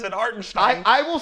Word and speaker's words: Hartenstein: That's how he says it, Hartenstein.